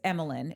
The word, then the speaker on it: Emilyn: It's Emilyn. It's like Emily, but with a like could be Emily in Yeah.